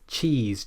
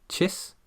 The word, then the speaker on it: cheese: A good way to check if you're getting this right is to place your finger under your chin. You'll feel the muscles there tense up if you're pronouncing this correctly. If you're pronouncing it like chis, then you won't feel those muscles.